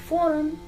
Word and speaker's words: foreign: word foreign so in foreign it is spelled as f o r e i g n here also the g is silent right so we have